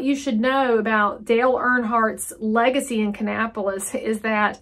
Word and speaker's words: Earnhardt: Kannapolis is the home of Dale Earnhardt, and so Earnhardt is how you say that.